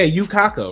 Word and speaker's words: Yukako: name is you know you knuckle no no no you chuck no you yeah yukako right i said it right now yeah girlfriend yeah that's